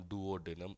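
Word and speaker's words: duodenum: एक मैंने कहा डुओडेनम, डिओडेनम, डुओडेनम, अलग अलग प्रकार से प्रोनाउंसिएशन जो है वो आपका होता है। ठीक है। तो आप सरल प्रोनाउंसिएशन याद रखो, इसको क्या कहा जाएगा, डुओडेनम।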